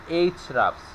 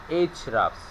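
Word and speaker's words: Ahrefs: আর ই এফ এস এইচ রাফস উচ্চারণটা হবে এইচ রাফস এভাবে উচ্চারণ করবেন এইচ রাফস আমরা সবসময় এইচ রাফস থেকে কেজিআর কিওয়ার্ডের সার্চ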